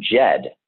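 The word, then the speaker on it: Djed: it comes from the root word jed and jed is spelled d-j-e-d and the jed represents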